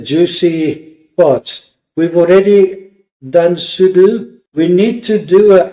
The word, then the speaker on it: sudo: So sudo, or as the British say, sudo, su dash.